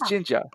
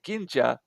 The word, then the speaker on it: Jinja: so that's why I spell it Jin, because if you There, spell it oh, G, some people might say Ginja or something like that.